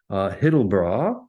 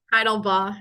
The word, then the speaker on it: Heidelbaugh: From Carnegie Mellon Tepper School of Business, we have Hittelbaugh. Is that how I pronounce that? Hittelbaugh? Heidelbaugh. It's a tough one.